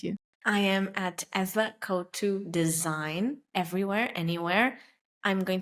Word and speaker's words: Couto: can they find you I am at Eva cotu design everywhere anywhere I'm going to spell it out because you know Portuguese names so